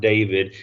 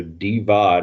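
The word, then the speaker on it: Divaad: wilson from uga and yes it's not david it's d-i-v-a-a-d so d-vod is how i'm pronouncing it you go with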